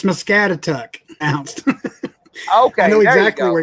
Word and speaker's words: Muscatatuck: Muscatatuck. Muscatatuck.